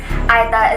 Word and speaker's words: Aeta: to be the first inhabitants of the philippines aida is pronounced they are indigenous and their ancestors were